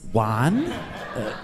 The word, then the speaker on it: Juan: like hey I'm JaJuan one no it's it's Italian it's spelled like like why it's spelled like one but if you pronounce a J because it's Italian shouldn't it be one I don't know lady